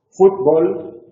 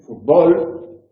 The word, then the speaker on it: fútbol: Es decir, nosotros escribimos en Europa, decimos fútbol, es una palabra llana que acaba en consonante distinta de N y S y por lo tanto lo acentuamos. En América dicen fútbol y por lo tanto no lo acentuamos.